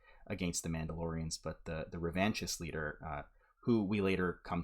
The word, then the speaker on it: revanchist: He said, second syllable sounds like the word van.